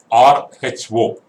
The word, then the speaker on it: rho: The symbol used to denote density is this symbol, rho, round P, RHO, pronounced as rho, written like round P, rho symbol.